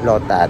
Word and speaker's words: Lotus: Pag in Thai, Lotat, yung pag-pronounce nila.